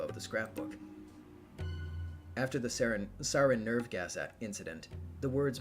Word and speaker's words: sarin: Super minor, but sarin is pronounced sarin. It's not a JP pronunciation.